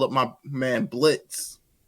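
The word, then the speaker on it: Blitzø: call up my man Blitz no o and we gonna get silent exactly we don't have to tell the people the O is silent because we killed the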